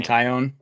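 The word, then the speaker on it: Taillon: We've got you Darvish versus Jameson Talian. I never know how to pronounce that. Jameson Tyion. Yeah, Tyion. Is that how you pronounce it?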